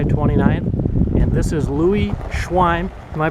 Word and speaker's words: Schweim: And this is Louis Schwin. Am I pronouncing that right?